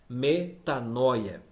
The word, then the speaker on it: metanoia: E no Novo Testamento, Pedro usa várias e várias vezes esta mesma palavra, que no grego pronuncia-se da seguinte forma: metanoia.